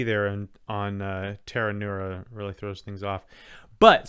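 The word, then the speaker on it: Pteronura: stuff that's long uh the genus is tanura there's a silent p and the species is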